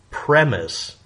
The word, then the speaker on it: premise: The word premise with a lowercase e, premise, it's premise. The e is silent.